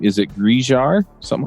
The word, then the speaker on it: Grizhar: Is it Grizhar? Something like that? Best not to say it. It's usually my advice. It's a made-up name. We pronounce it Grizhar.